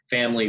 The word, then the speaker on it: Phamaly: Before TNP, I worked at a company called Family Theater Company, which is spelled PHAMALY.